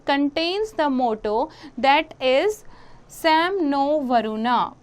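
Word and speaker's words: शं नो वरुणः: Interesting fact you have to know, the emblem of the Indian Navy contains the motto that is Sam no Varuna, pronounced Sham no Varuna, which means be auspicious to us, O Varuna.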